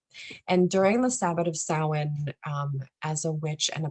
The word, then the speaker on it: Samhain: So we pronounce it Samhain here at the Apothecary.